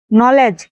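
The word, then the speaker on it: knee: এই ভিডিওতে শব্দের শুরুতে কে এন থাকলে তার উচ্চারণ হবে দন্তান্ন। এই ক্ষেত্রে কে অনুচ্চারিত থাকে। নলেজ জ্ঞান, নাইট গুড়া, নি হাঁটু।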